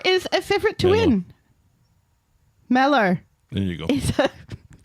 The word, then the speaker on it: Mellor: malor is a favorite you can just say like mellow you don't have to